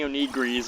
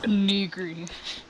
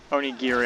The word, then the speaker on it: onigiri: I'm gonna buy like 20 onigris and just go slam myself on that plushie until I get it. Onigiri. Onigiri, I don't care.